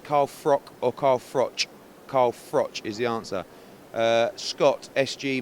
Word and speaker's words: Carl Froch: Is it pronounced Carl Froch or Carl Froch? Carl Froch is the answer.